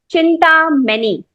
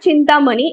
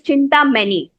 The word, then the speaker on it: Chintamany: Session number two is called chinta many. Okay, mind you it's not chinta money. It is chinta many. It has taken me about 48 hours to pronounce this properly.